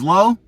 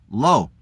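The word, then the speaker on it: לא: pronounced al, which is aleph, lamed. In other words, no means no. No means low, and low means no.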